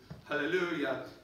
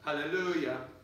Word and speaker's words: hallelujah: yes it is not that's not the word stress right so you with your gesture need to de-emphasize the last syllable of that word every single time that